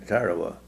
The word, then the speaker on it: Tarawa: name of the summer time that time it's pronounced in tarawa but there was a really bloody battle there